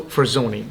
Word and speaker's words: Forzoni: welcome to another interview today I have Roberto for Zoni did I pronounce that correctly you did yes okay perfect